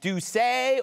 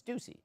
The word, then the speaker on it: Doucet: Is it Doucet or is it Doucey? But it's true. It's Doucey.